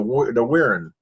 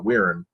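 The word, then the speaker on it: Wirrn: All right, number 2, the Wirren. That's a weird pronouncement of that name, I know, but that's the way they do pronounce it on the show, the Wirren.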